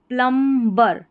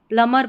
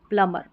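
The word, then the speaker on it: plumber: अब इसको प्लम्बर ऐसे नहीं पढ़ना है, इसको पढ़ेंगे हम प्लम्बर, ऐसे नहीं। ये बी है ना, ये साइलेंट है, प्लमर पढ़ेंगे, प्लमर, ठीक है, ये इसका करेक्ट उच्चारण है।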